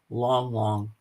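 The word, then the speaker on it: Lang Lang: Well, if you're into classical, you should listen to this this classical pianist called Long Long. It's spelled Lang, Lang, and the way he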